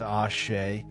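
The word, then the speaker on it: Àṣẹ: The concept of ASE, pronounced Ashe, is central to Yoruba spirituality.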